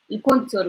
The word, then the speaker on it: الكونتور: So yeah, we say el contour with N, el contour.